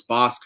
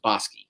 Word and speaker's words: Bosque: And I called the horse Bosque first time out. Like one would. Like one would, exactly. And then our mutual friend Pat Cummings told me, I think that's the name of a city on the way to Waco from Dallas. And it sure is. And it's pronounced Bosque.